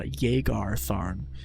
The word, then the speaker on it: Jagar Tharn: ways to pronounce it I pronounce it Jay garthorne uh I I know some people probably pronounce it jakart or uh jagar tharn if that's the way